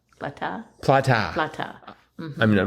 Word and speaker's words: plata: Or plateau. Plata? Plata. Plata. I mean, I'm not sure how you pronounce it. Maybe it's plata. No, it's plata. Oh, okay. In Spanish, A is always an sound. Plata.